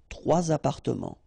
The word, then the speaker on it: trois appartements: And then appartement, apartments, starting with a vowel, so you should make the liaison. Trois appartements.